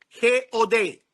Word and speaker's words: God: Se escribe God, G-O-D. Pero se lee God.